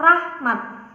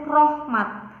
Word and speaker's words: rahmat: itu yaitu Universitas kemudian kata rahmat lafal yang benar itu Rahmat sedangkan yang salah itu Rohmat Nah pembenarannya kita menggunakan